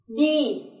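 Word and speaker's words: đi: So as you hear, I and Y are pronounced into E in Vietnamese. For example, Lily. Lily is the name of the flower. Lily. Other example is D.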